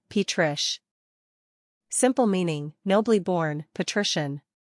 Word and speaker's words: Patricia: Pronunciation, Patrish.